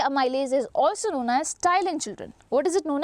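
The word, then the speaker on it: ptyalin: is also known as Tylin children what is it known as Tylin p is silent over there it is known as Tylin what does salivary Ames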